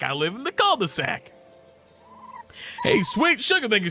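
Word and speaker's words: cul-de-sac: My friend's fiance from France absolutely lost it when he found out how Americans say cold sac. We Americans have been butchering language for ages. Cold sac. That's all you say. You're like, "Oh, where you live? In the culde-sac."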